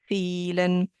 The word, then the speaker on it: vielen: Then we have the V sound that sounds like an F, vielen.